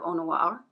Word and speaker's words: Eau Noire: And people have also said that this one does remind of Eau Noire. Eau Noire. Eau Noire, I should say. I mean, I do know how to pronounce French.